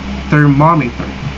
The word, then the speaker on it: thermometer: stressed it's called mushroom in the thermometer the second syllable is stress it's called thermometer so now let's proceed